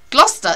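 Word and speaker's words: Gloucester: oh there's a few gluster is is a funny is a funny pronunciation because it should be glester shouldn't it so anyway um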